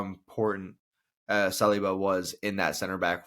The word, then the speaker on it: Saliba: Yeah, Saliba.